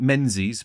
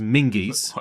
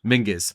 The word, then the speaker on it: Menzies: Stuart looks like Menzies, but it's pronounced Mingies. What? Stuart Mingies. Really? Yeah, Mingus. That's how you pronounce it. Mingus.